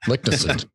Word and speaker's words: Leknessund: Here's how I would pronounce his last name. Well, you just said it, so that's not fair. Leknessund.